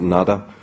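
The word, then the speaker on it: Nuada: There's, in the earliest settlers of Ireland, in the very primordial times, the High King, whose name can be pronounced in a variety of ways, we pronounce it Nada.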